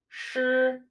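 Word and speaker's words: 师: phrases first we have sure sure which means teacher or master sure and now this is our first level tone with the pronunciation sure next we have the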